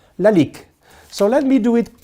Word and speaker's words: Lalique: a little bit of perfume very easy to pronounce Lalique so let me do it quickly for you